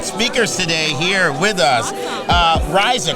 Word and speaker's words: Raysa: Raysa, correct? Raysa, All yes.